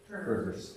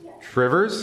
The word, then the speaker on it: Two Rivers: Otherwise known as Trivers. Trivers? Yeah, that's how you pronounce it locally.